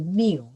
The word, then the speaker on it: mu: this is we use we call it the mu looks like u by the greek the pronunciation we say is a mu so mu